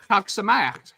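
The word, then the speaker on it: חג שמח: Chag Sameach, Happy Hanukkah.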